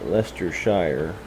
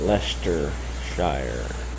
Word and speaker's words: Leicestershire: Well, no, well it is Leicester and Leicestershire, but I'm a city boy, so you have a late job then.